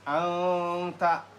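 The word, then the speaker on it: أنت: Ini dibacanya anta tuh anta karena nun mati bertemu ta tuh. Makanya didengungkan samarkan.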